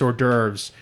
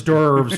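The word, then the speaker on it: hors d'oeuvres: sausages and he and she said it wrong too cuz it's ordures and then she was like derves or some [ __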